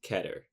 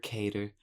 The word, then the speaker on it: Keter: Object class Keter. Yes, it's pronounced Keter, not Keter, Cater. I looked it up.